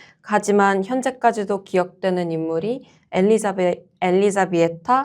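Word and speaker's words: Elžbieta: 보나스포르차처럼 능동적으로 판을 짜진 못했지만이 복잡한 정치의 균형을 위해서 희생된 하지만 현재까지도 기억되는 인물이 엘리자베 엘리자비에타 합스부르가이테이군요. 아, 그게 그게 리투아니아식 발음이에요. 맞아요.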